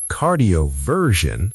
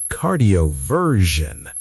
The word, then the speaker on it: cardioversion: The S makes a j sound, like the S in measure. Wrong. Cardioversion, flat. Correct. Cardioversion. Cardioversion. She underwent electrical cardioversion and reverted to sinus rhythm.